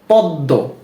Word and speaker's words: পদ্ম: ফলা রয়েছে না তো এজন্য এই দ টা দুইবার উচ্চারণ হবে যেমন পদ্ম পদ্ম কি পদ্ম আচ্ছা